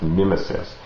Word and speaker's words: mimesis: as a whole and the word that he uses in Greek is mesis which is sometimes pronounced misis in English or sometimes even pronounced mimesis and after Plato has